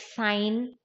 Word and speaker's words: sign: is sigi and no RG is silent like sign si GN sign right not signal same way any other